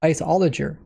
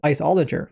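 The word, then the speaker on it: Iceologer: out with was the isoler. Now like I said I was pronouncing it wrong. I was pronouncing it isol cuz that's what it looked like it said but they pronounced it isoler.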